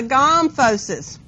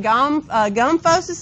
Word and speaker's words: gomphosis: If you want to pronounce it gomphosis instead of gomphosis, it may help you know where it is, okay, because teeth are in your gums.